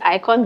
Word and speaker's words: IKOJN: And so the name is icon, the J is silent. We hear it all the time. Guys say Icon J.